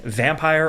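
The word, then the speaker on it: Vampyr: strange remember me and vampire or vampir depending on how you say it uh for years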